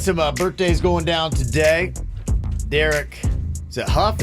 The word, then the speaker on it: Derek Hough: birthdays going down today Derek Hough is how you say the kid's name he's a dancer yeah